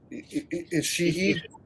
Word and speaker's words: Ishii: How do you pronounce the other guy's name? Ishii.